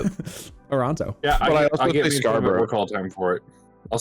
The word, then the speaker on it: Toronto: Uh, as a kid, I always pronounced the second T in Toronto and it was weird. Don't know why. Just always I always only pronounce the second T. I went Toronto.